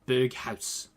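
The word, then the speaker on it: Berghuis: I invested in a load of Berghaus. Apparently that's how you say his name.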